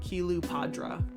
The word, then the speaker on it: Cleopatra: Kilu Padra is literally how you say her name. But the way you say Cleopatra, that is Greek.